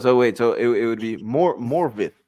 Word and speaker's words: Morvith: It's actually pronounced Morvith in Welsh. F equals V and double D equals TH.